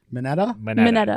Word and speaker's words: Mineta: Mineta. Mineta, yeah. Yeah, it sounds like antenna.